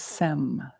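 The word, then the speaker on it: sems: that and Tibetan is sem sem s-e-m there's a silent S at the end right Sam and that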